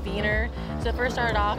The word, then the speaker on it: Wiener: We say Wiener dogs, but the German pronunciation would be Wiener.